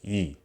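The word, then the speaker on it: ㅡ: This vowel is pronounced as e, and it sounds like the letter E, but it sounds closer to the sound from the E meme. E, E, E.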